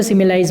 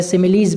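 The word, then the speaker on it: simile: या समानता दे दी उसको सिमिलाइज बोलते हैं, या सिमिलीज भी आप इसको बोल सकते हैं। दोनों प्रोनाउंसिएशन सही है अपनी जगह।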